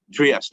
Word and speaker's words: Trieste: I've never been there, but a bunch of people went to Italy, this Trieste, or I can't pronounce it, Trieste. Trieste, okay, thank you.